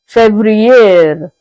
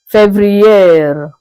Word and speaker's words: Février: February is being pronounced as Février, Février.